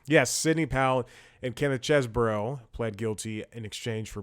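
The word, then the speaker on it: Chesebro: is always good uh Kenneth cheeseboro chesboro because pron people have been pronouncing it cheeseboro like a cheeseburger type thing and and Sydney Powell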